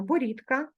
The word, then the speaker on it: борідка: з буквою г легкий далі ми вимовляємо борідка перевіряємо борода і пишемо борідка з буквою д зверни увагу на вимогу